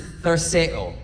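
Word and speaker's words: θαρσέω: Now, the Greek word that Jesus uses there that's translated take heart, the Greek word is tharseo. Tharseo. It's close to how it's said.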